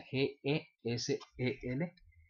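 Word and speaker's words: Gesell: economías alternativas lea Silvio guessell o bueno se documenta acerca Quién era ese señor Silvio guessell que cell se pronuncia gesel y pues nos vemos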